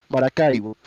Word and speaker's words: Maracaibo: Sorry, I gotta switch from English to Spanish to pronounce it correctly. Maracaibo.